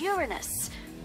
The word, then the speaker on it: Uranus: jokes about Uranus besides the proper pronunciation is Uranus it's a tactile sorry